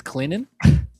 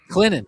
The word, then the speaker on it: Clinton: How do you It's Clinton. Clinton. Yeah. Clinton. There's no T. Yeah. Say it like there's no T there.